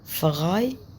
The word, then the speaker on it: frei: frei يعني free. frei قلنا الاي اي اللي هي الاي اي بتتنطق اي frei غي.